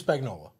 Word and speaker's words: Spagnuolo: Yes, Steve Spagnuolo.